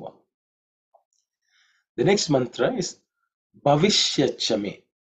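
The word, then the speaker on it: भविष्यच्च मे: The next mantra is Bhavishyachame. Bhavishyachame. Bhavishyachame. In terms of pronunciation, the first letter is Bha. Okay. Bha, which is fourth letter in the Pavarga. So it has to be aspirated.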